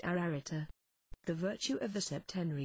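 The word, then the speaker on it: Ararita: a triple and double repetition this word is pronounced ararata the virtue of the septenry is absolute in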